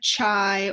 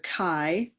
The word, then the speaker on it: chi: looks I know it looks like chai or Chi um but it's it's the uh Greek letter Kai so I don't know how you want to Kai I don't know how you want to phonetically write that but it's Ki squared and so what Ki